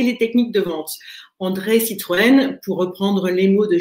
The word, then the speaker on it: Citroën: Et le tréma sur le nom Citroën apparaît lors de l'inscription d'André Citroën à l'école pour faciliter la prononciation, parce que c'est une famille qui vient de Hollande. Et en Hollande, Citroën n'a pas de tréma, donc c'est plus difficile à prononcer.